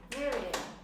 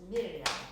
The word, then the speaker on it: Miriam: So I said Miriam, and then it was a while before I realised that actually she doesn't say it like that. That's how we say it in England. She's Italian. She says Miriam, Miriam.